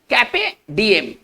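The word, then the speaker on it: carpe diem: हमारा जो next foreign words है वो एक वर्ड है कैपे डीएम। देखिए इसको कैसे पढ़ेंगे, आर साइलेंट रहेगा, वैसे भी वॉवेल के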